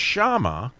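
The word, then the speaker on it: שמע: word name because here in hebrew would be pronounced shama but it's spelled almost exactly like shem you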